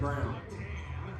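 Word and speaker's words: Braun: a n it's not brown yeah but they pronounce it Christian Brown you're joking no that that's it's brown Minnesota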